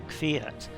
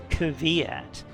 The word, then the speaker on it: Kvyat: 1 driver called Daniel Kvyat, which all the British commentators have trouble pronouncing for the same reason. They say Kvyat because the KV just doesn't really work.